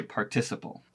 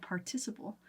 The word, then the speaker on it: participle: people speaking those words a prime example was partis but she would say participle yes because it's spelled participle but yes it was participle as how people say it here and so I would